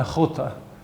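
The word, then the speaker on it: a chóta: between a cota and a chota. A cota is her coat. A chota, his coat. So if you can't pronounce the ch sound, you can't distinguish between her coat and his coat.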